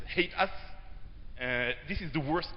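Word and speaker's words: HATEOAS: appication State uh and I just pron pronounced this as hate us uh this is the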